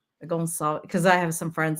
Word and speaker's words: Gonçalves: Gonçalves. Oh, I meant to ask. I usually ask, am I pronouncing it right?